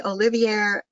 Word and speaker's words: Olivier: Joe is nominally Olivier Professor of Education. Did I pronounce that correctly, Joe? Yes. Olivier? Yeah.